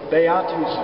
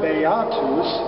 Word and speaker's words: beatus: is the man now the word beatus is accented on the second syllable and if you noticed